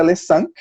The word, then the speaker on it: Le Cinq: E o último veio o Le Cinq, que eu acho que muita gente não sabe que pronuncia assim, mas é Le Cinq, né?